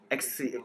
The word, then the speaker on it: Xyz: This card I can understand for synchro and XC. It's called XC still, right? Yeah. For XYZs, yeah. Yeah, you just because pronounce XYZ.